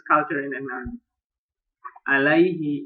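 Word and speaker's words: عليه: If attached to a pronoun, ala and ila are pronounced with ya. What? Here. Alaihi, ilaika.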